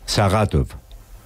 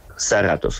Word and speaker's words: Saratov: Saratov. Sí, con R más pronunciada, es que yo no sé pronunciar la R bien. Saratov, esto.